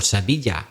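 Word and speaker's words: Sevilla: it's Murray battle from Seville or say media as he might say okay this isn't a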